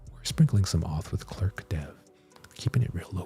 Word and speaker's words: Clerk: We're sprinkling some auth with Clerk dev. Keeping it real low key right now. That's how we do it. You know what I mean? When someone else, I always pronounce it like law clerk.